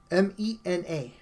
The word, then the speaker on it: Mena: My last name is M-E-N-A, Mena. That's how you say it in Spanish.